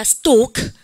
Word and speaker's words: stalk: 발음하니까 stalk.